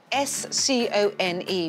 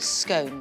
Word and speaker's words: scone: How do you pronounce scone? I've answered. S-C-O-N-E, which I know is often pronounced out of the UK, scone, but it is scone.